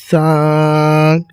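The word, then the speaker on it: ثاء: এরপরে দেখেন সা, সা। এই সা অক্ষরটি মুখের যে অংশটিকে বের হয় সেই অংশটি হচ্ছে যে দুই দাঁতের মাঝামাঝি কিছু পরিমাণ জিহ্বাটা বের হয়ে থাকিবে এবং সা, সা, সা উচ্চারণটি হবে।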